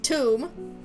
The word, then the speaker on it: Thumb: Thumb. Pronounced tomb.